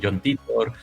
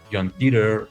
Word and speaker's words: Titor: Eh, hay discrepancias sobre cómo pronunciarlo. Algunos dicen John Titor, John Teer, John Titor, así eh pero bueno, yo hablo español y al los anglicismos, John Titor, entonces más Honor.